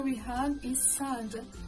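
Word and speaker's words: ص: The next letter we have is Sad. The Sad is basically the strong version of the Sin we saw in the beginning. This sound is pronounced with the throat constricted. Listen to Sad and Sin with the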